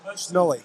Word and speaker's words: Schnoor: How do you pronounce that name, North Iowa boy? Schnoor.